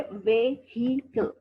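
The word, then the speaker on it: vehicle: अब ये है कि वेहिकल, 3 साउंड्स है, व्हीकल, okay. व्हीकल, there are 2 syllables, व्हीकल। Comment, not comment, comment.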